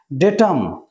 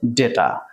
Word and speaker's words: ডেটা: Datum, এর plural ডেটা। এটা কিন্তু ডাটা নয়, অনেকে আমরা ভুলবশত এটা ডাটা উচ্চারণ করি, কিন্তু ইট ইজ ডেটা।